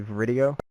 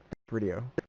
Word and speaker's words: VRideo: Am I saying it's not VRideo, but it's actually VRideo? Yes, I typically say it's video with an R, basically. Got it. VRideo.